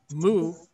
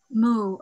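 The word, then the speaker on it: 無: Another way to think of Mu in Chinese is pronounced Wu, or the character is Wu.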